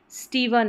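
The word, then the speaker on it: Stephen: स्टीवन या स्टीफन यानी कि पी एच को यहां पर जैसे हमने पहले पढ़ा था पी एच का साउंड फ रहता है तो आप इसको फ ही प्रोनाउंस करें स्टीफन फिर नेक्स्ट देखिए डब्ल्यू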